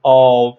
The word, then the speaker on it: of: Look at the pronunciation of, not of, because we are very used to pronounce it as of, the F sound.